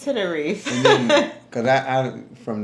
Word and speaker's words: Tenerife: We were saying Tenerife. Right. We were saying Tenerife. It's Tenerife.